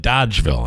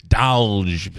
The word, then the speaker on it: Dolgeville: Here in Utica, they call it Dodgeville, and I keep trying to remind people it's Dolgeville. Yeah. Well, there's an L in there.